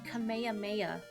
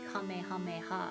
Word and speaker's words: Kamehameha: up thinking it was everybody said Kamehaha. And it was until I saw some Dragon Ball in Japanese and I heard them say Kamehameha and I'm like, whoa, what? That's how you say it?